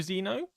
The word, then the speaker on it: Xeno: Xeno Zeno as in Evoka Zeno.